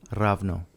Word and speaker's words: ravno: goid R rno so take that H sound out of there not not it's but no h in there ra oh maybe I should look at my notes rno ravno right so it could